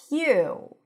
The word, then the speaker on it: queue: Q. Q means a line of people or things waiting their turn. Q. Q. Q. And it's just like the letter Q.